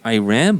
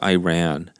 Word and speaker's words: Iran: It's complex, and Iran, again, the way you pronounced it, I believe, is the Iran. The way they pronounce it. Yeah, It's yeah. Iran, right? And then Iran, I believe, started to be pronounced Iran once I think Obama came into president. It became really mainstream then, but before that, everybody just called it Iran.